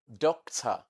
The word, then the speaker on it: doctor: The last sound you have here, represented by, OR, is a sure sound. We call this sound sure sound in the English language, sure sound. And it is always found in a syllable that is not stressed, unstressed syllables. Doctor, doctor. So some people pronounce as doctor. So the sound you have here is the sure sound, not O sound.